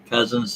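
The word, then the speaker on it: Cosens: his name is john cousins c-o-s-e-n-s he goes by john p.a cousins that's pronounced cousin c-o-s-e-n-s yes hello john n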